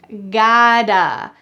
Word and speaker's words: got to: You can pronounce this gota. In American English, the t changes to a d.